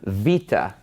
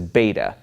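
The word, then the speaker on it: Βήτα: would know this as beta but it's actually pronounced V and it makes a v sound like a V and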